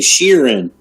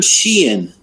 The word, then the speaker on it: Sheehan: We got his name wrong last week. We were saying Sheeran. I think it's Adam Sheehan.